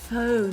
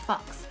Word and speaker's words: Faux: I'm saying it correctly now, okay? Faux, not fox. Faux.